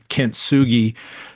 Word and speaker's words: kintsugi: It's a Japanese word. I think we said you pronounce it kintsugi.